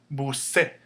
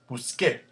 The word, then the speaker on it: busqué: But if you read this as it's spelled, it would say busé. And we don't want that. We can't have that. We want to keep the same k sound. So CAR verbs are going to change to QUE with an accent on the E.